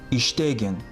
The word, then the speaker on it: иштегин: Внимание! Аффиксы в повелительном наклонении, как исключение, безударны. То есть при их произнесении ударение падает не на них, а на предшествующий слог. Например, «иштегин», «окугун». Please note, suffixes in the